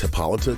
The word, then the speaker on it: Hippolyta: protection spell thanks to the dimension hopping goat hippolyta we know that there are different magic sources in the universe which really should be pronounced hippolyta considering they're doing the whole amazonian mythos dc